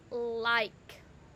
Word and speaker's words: like: The I says its name I. The K says k. And the E is silent. That E actually makes that I say its name.